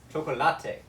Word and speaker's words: chocolate: very much for that contribution to the world pronounced so poor choco latte in Spanish well see this is a good